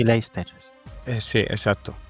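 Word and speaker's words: Leicester: la muerte el hermano Lecester, creo que se llamaba. Y Leers, eh, sí, exacto. Soy malísimo para las pronunciaciones. Se escriben de una forma, se dicen de otra. Es leer. Se escribe lechester.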